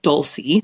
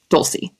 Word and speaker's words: Dulce: But when I was a kid, I accepted the pronunciation that white Americans could say of my name. So I went by Dulce because that was the easiest for Americans to pronounce. Dulce.